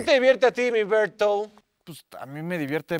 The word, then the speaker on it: Bert: no no no no no no que cómo pronuncio tu nombre Ah bert pero me puedes decir bert el tío bertungas